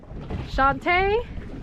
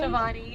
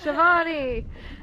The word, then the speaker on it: Shivani: Shantae. Did I say it right? Shantae? Shivani. Ah, Shivani.